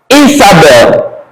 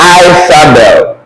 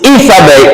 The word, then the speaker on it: Isabel: So when you're pronouncing this, you will have something like this, Isabel, remember, Isabel, not Isabel. It's Isabel, E.